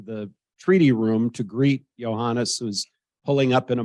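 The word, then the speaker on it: Iohannis: pronounce this guy's name IO honest I said no no Johannes okay Johannes when did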